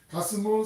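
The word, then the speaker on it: גַּשְׁמוּ: 게셈의 히브리식 발음이 가스무거든요. 가스무, 산발랏 그리고 도비아, 이게 칸페라고 말씀드렸잖아요.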